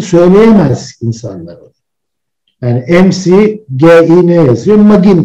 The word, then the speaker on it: McGinn: McGinn okunur.